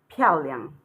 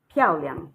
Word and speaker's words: 漂亮: So the way you pronounce this word is 漂亮, 漂亮, because this is falling tone, and here you pronounce it abruptly. You pronounce it like it is written, no tone.